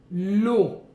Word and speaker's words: eau: L'eau. E-A-U, ça fait le son O.